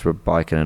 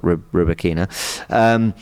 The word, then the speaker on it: Rybakina: I think I remember being told in the Wimbledon coverage that it's Rybakina, not Rybakina.